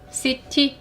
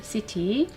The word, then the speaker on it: city: 그런데 C라는 글자는 항상 크라고만 소리가 날까요? 그렇지 않습니다. city, 그쵸? 키티라고 읽지 않고 우리는 S 사운드를 내줍니다. city.